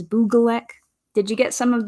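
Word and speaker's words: Bygglek: on the Boogalek sets, which that is how I believe you pronounce it because it's how Tiago Catarino said it, and also makes sense because it's a Swedish word. And there is a Swedish word for design called hygge, and it's spelled very similarly to Buglek. So we believe that the pronunciation that is correct for that is Buglek.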